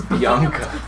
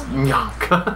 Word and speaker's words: Mbianca: It's Bianca. Yeah, man, that's not how you pronounce it though. It's Mbianca.